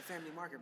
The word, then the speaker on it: Famlei Market: little bit about like the family market, bro. So, Family Market, you play for your fashionable and your classic needs. That's spelled FAMLEI Market.